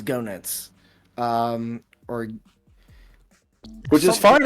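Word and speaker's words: Goenitz: name differently yeah I I've heard gut I've heard genit I've I'm pretty sure the the the proper pronunciation is is gonuts um or which is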